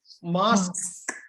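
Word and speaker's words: mosque: பண்ணிக்குவாங்க இந்த செக்கும் பண்ணுவாங்க சோ யூ வந்து இது அதே மாதிரி மசூதி மாஸ்க் அந்த யூ வந்து கட் பண்ணனும் யூ வந்து சைலென்ட் தெரிந்து கொள்ள வேண்டும் இந்த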